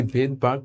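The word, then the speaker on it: Svedberg: তার নামটা হচ্ছে বেদবার্কের। বেদবারক বেদবার। ঠিক আছে? বেদবার। তো এই জায়গায় এসটা সাইলেন্ট থাকে।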